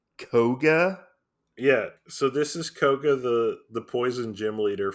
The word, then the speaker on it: Koga: we'll go with that thenk is it it's Koga right yeah it is kog kog the kog